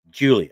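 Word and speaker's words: Giulia: one on the left, Julia, Hmm. Hmm. it's spelled Guilia.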